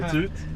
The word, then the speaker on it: Ketut: How do you pronounce your name? Ketut.